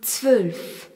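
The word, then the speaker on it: zwölf: Dansulf, nous avons le Z qui se prononce T, le W qui se prononce V et le Ola.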